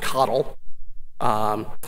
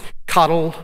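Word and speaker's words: CoDel: spelled co de l it's pronounced coddle coddle fq connell which is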